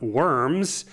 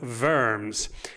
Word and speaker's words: Worms: it says diet of worms but it's it's German so it's pronounced diet of verms Diaz is kind of